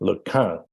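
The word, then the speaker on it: LeCun: He corrected my pronunciation of his name, Lequin.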